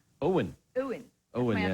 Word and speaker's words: Owen: How do you say Owen? Owen. Owen. That's Owen, my yeah. other son. Your son's called Owen? Owen, not Owen. Owen. What's the difference? That's what I'm saying, Owen. Yeah, Milo and Owen.